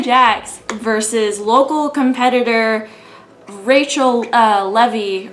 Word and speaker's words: Levy: It was Nia Jax versus local competitor Rachel Levy, or like Levi, they pronounced it Levy, but I'm gonna say Levi.